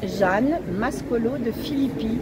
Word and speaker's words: Mascolo de Filippis: Jeanne Mascolo de Philippi, M-A-S-C-O-L-O. Il y a un S à la fin. Oui, non, on ne le prononce pas.